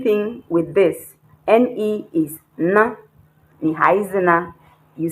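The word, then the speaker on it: 呢: The same way you pronounce na as if it is N-A. You don't say ne, you say na.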